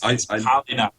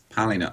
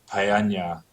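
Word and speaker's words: Poleña: It's Palina. Palina. I read the thing and listened to the thing on Fetal AI, and I'm still not confident. I call it Paella. That's not for a good reason.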